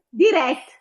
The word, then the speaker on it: diretto: Diretto. È diretto, è l'accento aperto nell'E. Diretto.